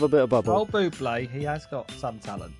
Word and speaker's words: Bublé: I don't mind a bit of Michael Bubble, I have to say. Say it properly. Yeah. No. No, we always call him Michael Bubble. We love a bit of Bubble. Old Bublé, he has got some talent, whatever you say, Shaun.